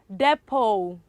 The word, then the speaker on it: depot: one the last one depot depot okay and depot um the word silence is letter t not the pot is depo okay for attempting for practice